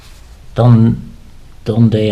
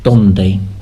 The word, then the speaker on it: donde: And also the E has a bit of an A sound, so donde, where is, donde está, donde están, where are.